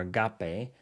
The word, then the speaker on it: agape: word study there's the word uh love or Agape is what it looks like in Greek and that's how you pronounce agape and it's a noun meaning charity